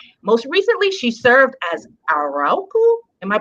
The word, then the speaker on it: Arauco: Most recently, she served as Arauco. Am I pronouncing that right? Tell me. Fix it. Arauco.